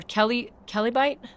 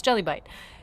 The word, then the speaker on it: Jellybite: Bertram, Pool Boy John, Jellybite, or Kellybite? I just realized, was I pronouncing that? No, it's Jellybite.